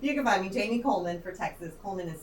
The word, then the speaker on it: Kohlmann: sorry I forget you can find me Jamie Coleman for Texas Coleman is spelled a little funny we we Jo SP